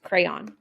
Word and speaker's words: crayon: Crown no it's it's crayon it's crayon I feel like we say it different say it again crayon crayon it's like on at the end crayon okay yeah I